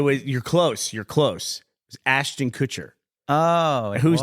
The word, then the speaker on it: Kutcher: It was Ashton Kutcher. Oh, whose name I always pronounce correctly.